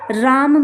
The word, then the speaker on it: रामः: तो इस तरह से जब विसर्ग लगा रहेगा तो इसका उच्चारण हा होगा, हा। बाल कहा। इसी तरह से राम में विसर्ग लगा हुआ है तो रामः।